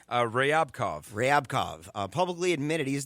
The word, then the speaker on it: Ryabkov: Um, but you have the the uh Sergey, how would you pronounce the last name? Uh, Ryabkov.